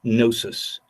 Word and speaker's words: gnosis: The letter G is silent, as in our word gnosis, and the sound GN is nasal, suggesting therefore the breath of life as opposed to that of speech.